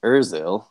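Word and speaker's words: Özil: It's Ozil. You pronounce the umlaut over the O.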